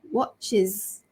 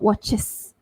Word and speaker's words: watches: So here the clue is when the word is made into a plural and it is spelled with es. So a watch, I want to make it into plural. Watches, watches, is sound there, not watches, watches.